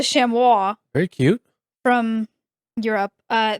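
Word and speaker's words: chamois: And then uh shamwis c h a m o i s. Okay. Uh this is a shamois.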